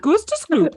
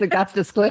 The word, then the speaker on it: Augustus Gloop: Gustus Gloop. Or no, it's Augustus Gloop.